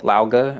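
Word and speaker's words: Lao Ge: like so between uh lao lauga that's how you say his name we were saying louji before that assassin guy never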